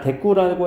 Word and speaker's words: 대구: 자, 대꾸라고 했을 때 이 대구는 이렇게 대구라고 쓰지만 대꾸라고 읽게 되죠.